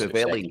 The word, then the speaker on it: Crivelli: I think it's Crivella or Crivelli, it's pronounced. Crivelli.